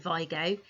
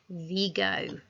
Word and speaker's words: Vigo: you know in spain they don't pronounce it vigo they pronounce it vigo so do you actually know anything about vigo